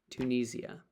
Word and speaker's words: Tunisia: Tunisia. Tunisia. People here in England say Tunisia.